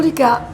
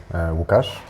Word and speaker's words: Łukasz: ça te dérange pas que je prononce ton prénom à la française? Ça me fera plaisir. C'est comme ça que les gens m'appellent en France la plupart du temps. Lucas. Lucas, est-ce que tu veux bien te présenter? Bien évidemment. Donc je m'appelle Łukasz.